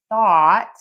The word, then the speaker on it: thought: We're going to use that same vowel for thought, even though it's spelled differently.